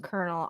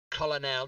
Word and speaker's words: colonel: So There's no colonel. in that Colonel is word a at French all. word. Colonel.